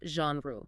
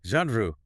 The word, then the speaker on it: genre: It's pronounced genre. Genre. You have to soften that first consonant. It is not a hard J, like in the word jump.